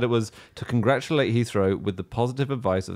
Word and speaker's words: Heathrow: the extra customers ouch I love the way you pronounced Heathrow two different ways though and then he throw Heathrow it's Heathrow isn't it I was so